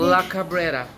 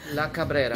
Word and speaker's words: La Cabrera: You guys, I'm here at this new restaurant here in Miami, Florida, and it is called, how you pronounce it again? La Cabrera. La Cabrera.